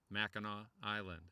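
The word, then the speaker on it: Mackinac Island: know this place know it's really has been pronounced for centuries Mao Island like K Koo Illinois yeah yeah yeah you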